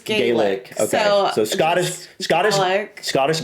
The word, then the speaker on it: Gaelic: that when you say Scottish Gaelic, it is pronounced Gaic. Oh, but when it's Irish, it's Gaelic. Okay. So, Scottish Scottish Scottish Gaik and Irish Gaelic is that I took away from that.